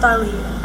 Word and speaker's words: Aliyah: I'm Aliyah Dana. And yes, it's pronounced Aliyah. I know a lot of people get it wrong.